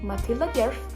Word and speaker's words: Matilda: with beautiful hair AKA Matia and Kaye Bo and did I just pronounce mat as if I'm Swedish yes I do but I